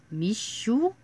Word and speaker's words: Mischo: I looked it up it's pronounced me sure our Mitchell it's mi